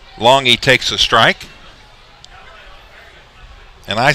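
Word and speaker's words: Longhi: up nick longi now nick's last name is spelled l-o-n-g-h-i so to your normal viewing of that spelling you would immediately say well that's long high but it's not it's l o n g capital e capital e is the phonetic way to spell it as long he takes a strike and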